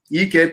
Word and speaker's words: Ekpa: name is not Igbo, and my name is not Akpan. My name is Ekpa. EKPA.